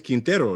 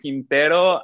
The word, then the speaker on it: Quintero: going to ask you, your last name is Quintero, no? Is that how you say it? Yes, Okay, yes, perfecto. Quintero.